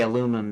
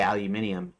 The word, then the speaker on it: aluminium: say in other words we say aluminum they say aluminium and and and literally they're actually two different words because they have a slightly different spelling they have an extra I so it's not that